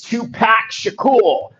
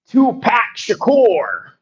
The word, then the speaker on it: Tupac Shakur: It's Tupac Shakool. Tupac Shakur. TUPAC SHAKUR, GUYS. Tupac Shakur. Yeah.